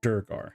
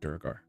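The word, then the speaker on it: Duergar: uh I know it's it's it is durar yeah I don't know why I always pronounce it durgar just sounds cool uh he's a durgar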